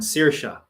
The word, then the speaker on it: Saoirse: 스시 아니고 Saoirse.